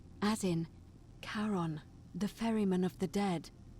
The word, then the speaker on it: Charon: It's just as you described it, only your pronunciation is a little off. The name you heard wasn't Karen. It was C-H-A-R-O-N, as in Charon, the ferryman of the dead.